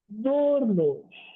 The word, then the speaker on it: d'horloge: Okay, so nous n'avons pas d'horloge. Because H is like a silent letter, so you consider it as a vowel.